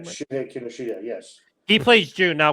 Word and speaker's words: Shuhei Kinoshita: Now, of course, the other aspect of the movie is his name Shuhei Kinoshita. Am I pronouncing his name right? Shuhei Kinoshita, yes.